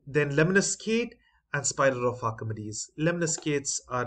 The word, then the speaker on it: Archimedes: Now, the pronunciation is given as Archimedes.